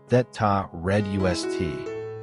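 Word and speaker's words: Þetta reddast: encapsulated in the phrase etst pronounced thata red us which roughly translates to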